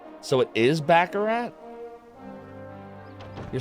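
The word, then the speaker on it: Baccarat: there do we go out this way it's pronounced backarat so it is bakarat you're saying it's bakarat like that oh right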